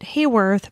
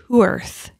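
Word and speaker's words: Haworth: So where Claudia Lawrence is from in the UK, I pronounced it Hayworth, but it's Hooerth.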